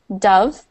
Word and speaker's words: dove: Okay, so dove is pronounced like, so the bird is pronounced like D-U-V, dove.